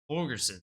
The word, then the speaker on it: Holgorsen: Holgorsen. Thank you, Ryan. Go ahead. Since you know how to pronounce his name, I'll let you start it off.